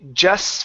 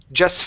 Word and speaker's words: just: We have an S and an F. And so we do not need to pronounce the T. Okay, so we'll say just fished. Just fished. Just fished.